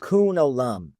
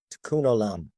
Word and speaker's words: Tikkun olam: And so this Hebrew phrase, and I'll let you pronounce it, it is Tikkun olam. Tikkun olam.